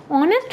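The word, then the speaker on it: honest: हम इसे अंश पढेंगे ऑनेस्ट कमेंट्स होता है बंदा हम इसे हानि तो पढेंगे नहीं तो इसलिए हम देखेंगे कि साइलेंट है और हिंदी पेंशन मात्रा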